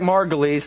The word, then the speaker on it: Margolis: All right, everybody, that's Eric Margolis.